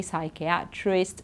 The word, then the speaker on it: psychiatrist: so we say Sai we don't say we say Sai so psychology psychiatrist pseudo and then PN it's